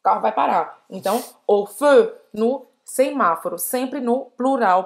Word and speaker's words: au feu: Você vai fazer a boca do O e falar o feu. O feu. Esse A-U-X é só o som do O.